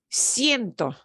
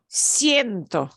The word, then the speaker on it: siento: another diphthong I.E and we'll pronounce them together like siento siento so both get pronounced siento okay uh or for